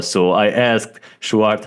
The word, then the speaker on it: Sjoerd: So I asked Schwart how to pronounce his name before that.